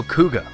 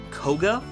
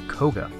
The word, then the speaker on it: Koga: little more than some minor turbulence masked hero kuga uh it's pronounced koga have been informed it is koga master okoga is a level 8 light monster